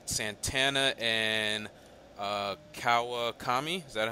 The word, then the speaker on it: Kawakami: game two looks like s Santana and uh Kawa Tommy is that how you say it yep in